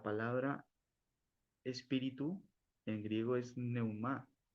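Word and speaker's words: πνεῦμα: Vamos a la palabra espíritu en griego es neumá Y si entramos aquí a la palabra espíritu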